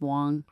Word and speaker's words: Wang: Andy Wong Andy Wong spelled Wang pronounced Wong I love Andy by